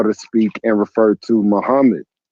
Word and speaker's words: Muhammad: Muhammad's name is not properly pronounced as Akmad. Muhammad's name is properly pronounced as Muhammad.